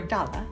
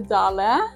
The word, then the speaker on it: Dale: nor Factory is yeah lots of Americans say d and absolutely correct also we say dala and we say Dale both is fine so it's named after